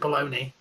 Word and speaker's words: bologna: spelt that way oh just like bologna is actually spelt palagna yeah but you pronounce it baloney yeah could you remember